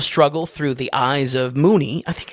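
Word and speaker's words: Moonee: We see this world of struggle through the eyes of Mooney. I think it's pronounced Mooney.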